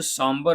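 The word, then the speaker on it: sombre: अगर इसमें हम वर्ड की बात करें तो यह जो साबर वर्ड है यह काफी अच्छा वर्ड आपके लिए हो सकता है। हो सकता है नया भी हो। इसमें र को प्रोनाउंस नहीं करते हैं।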